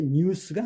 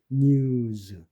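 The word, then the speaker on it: news: 그러니까 mens가 아니고 맨즈 에라이 유성음 그다음에 W가 유성음이니까 s를 붙이면 이게 뉴스가 아닙니다. 영어는 뉴즈 그다음에 I의에이 Y가 유성음이니까 s를 붙이면 아이스가 아니죠.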